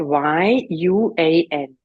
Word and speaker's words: Yuan: That is spelled Y-U-A-N. And you say Yuan.